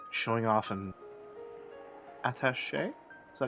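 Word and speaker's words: attaché: He'd do strange things like showing off an atache. Is that how you pronounce that? Ataché Case with seven strange stakes in it and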